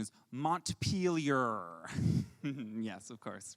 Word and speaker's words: Montpelier: no no no no we the the correct pronunciation is montpelier yes of course right right um and uh